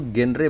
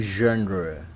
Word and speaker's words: genre: Itu genre bacanya genre. No. Bukan gen. Pakai Z-nya monyong. Genre.